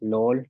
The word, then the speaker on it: lool: Y también tenemos lol, que es flor. Entonces, pues repasamos dos veces las pronunciaciones.